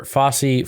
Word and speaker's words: Fauci: I think maybe her end goal is to make Fauci look bad.